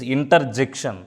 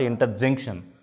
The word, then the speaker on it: interjection: It is conjunction, it is interjection, not interjunction. So let us learn these 8 parts of speech with examples.